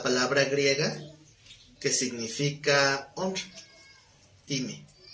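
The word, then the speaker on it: τιμή: Bueno, de esa manera en que se escribe, así se pronuncia la palabra griega que significa honra, time, con acento en la E, time.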